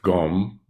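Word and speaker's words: སྒོམ: this in fact the in tibetan the word for meditation is pronounced gum I guess we would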